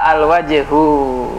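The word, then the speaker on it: الوجه: Ya, al-wajhu. Wajah. Huruf waw itu Komariah. Al-wajhu.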